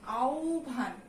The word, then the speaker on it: আহ্বান: এটার উচ্চারণটা কি আও ভান। কেমন? এটা হচ্ছে এটার উচ্চারণ আহ্বান।